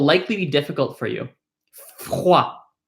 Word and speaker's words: froid: Once you can say théâtre, there's another word I'd like you to practice, which is froid.